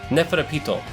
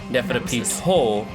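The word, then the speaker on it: Neferpitou: But when they pronunciate it, she pronunciates it Neferapito, like it's Japanese.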